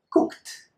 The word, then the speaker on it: cooked: So, when verbs finish in K and you add the ED, the only thing you need to do is transform this ED into a T sound.